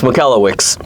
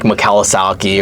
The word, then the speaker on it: Michalowicz: Yeah, it's Malawix. For long for the longest time I would say Mike Kawasaki or Mike Mawasaki or Yeah, I went to his website and pushed the hard time.